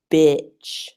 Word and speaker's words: bitch: So you can see the difference between beach and bitch. And that can help you to, let's say, practice slowly. What I always recommend for these difficult pronunciation questions is to practice slowly. So just focus on the shape of your mouth. Beach, bitch, beach, bitch.